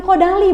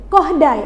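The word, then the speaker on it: Kodály: Yang terakhir, dalam materi ini mahasiswa mampu menerapkan metode bukan kodali bacanya. Kohdai. Apa bacanya? Koh. Kohdai. Nah, ya. Karena ini orang Hungaria ya dalam bernyanyi dengan membaca notasi yang tadi doremi fasolido.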